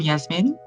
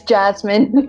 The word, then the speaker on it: Jasmine: Welcome, Yasmin. Hi, it's Jasmine, by the way. I Jasmine. guess like different places will pronounce it differently.